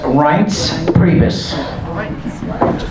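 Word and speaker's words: Priebus: the chairman of the RNC his name is pronounced RS prus and put other microphone away so we don't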